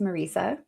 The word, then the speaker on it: Marisa: Um and it it's pronounced Marica, but but I apologize.